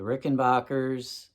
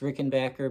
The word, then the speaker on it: Rickenbacker: We're just going to talk about the Rickenbackers. I know it's pronounced Rickenbacker, but I say Rickenbacker because I feel like an idiot when I say Rickenbacker.